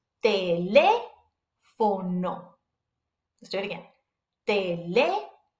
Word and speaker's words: teléfono: Remember that the accent mark over the vowel is telling us to put emphasis on it when you pronounce it. So pretend like you're like hammering that letter. So it goes teléfono.